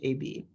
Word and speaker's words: AB: I am Abe, I am AB, pronounced AB. My name reflects what I am, an AI program to be helpful to humans. Though AB rhymes with baby, and no one could